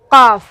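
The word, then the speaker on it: قاف: काफ, गला के साथ बोलना है, काफ। इसका क्या होता है? क, ठीक है। काफ हो गया, ये काफ हो गया, और इसको बोलते हैं काफ।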